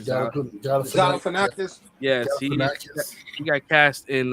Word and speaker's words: Galifianakis: Galifianakis.